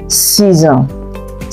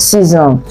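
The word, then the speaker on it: six ans: The X that ends 6 and the A that begins with on is linked together. So it makes us to pronounce the X as what? Z. 6 ans. 6 ans.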